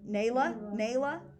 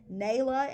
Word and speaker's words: Nayla: Nayla. I have like a Layla, and it's spelled the same way with an L. So Nayla instead of Layla, whatever.